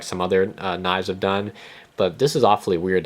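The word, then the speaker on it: 刀: This is the Chinese character for knife, and it's pronounced do, and that is Cantonese pronunciation.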